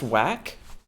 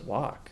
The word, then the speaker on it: Wak: Hey, so it's pronounced whack. Yeah, it's pronounced whack. Oh, I always thought it was wack.